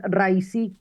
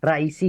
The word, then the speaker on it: Raisi: el nombre del presidente el presidente es rais viene de la palabra árabe raí que significa justamente presidente o cabeza viene de la palabra ras cabeza rais con la tilde en la i final así que bueno fue